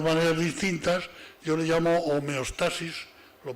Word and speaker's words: homeostasis: distintas yo le llamo homeostasis lo pronunció de esta forma aunque se puede pronunciar homeostasis también qué es señoras y